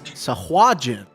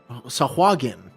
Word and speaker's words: Sahuagin: Are you sure it's not Jin? Sahuagin? I thought it was the hard G. Well, the part that threw me off was the U before the A. Let's see. Hold on. Let's see. The D&D wiki says Sahuagin.